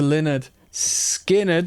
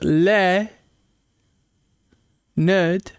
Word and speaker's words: Lynyrd Skynyrd: Put me on to Lynyrd. Skynyrd. Oh, we've got the actual pronunciation here. Pronounced Lynyrd. Skynyrd.